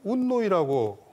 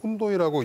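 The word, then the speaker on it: Οὖννοι: 배우에 있었던 그 세력 라틴어로는 이제 훈니라고 하고 그다음에 이제 그 그리 그 그리 사람들은 운노이라고 H 발음을 안 하고 운노이라고 이제 표기를 그 했는데요.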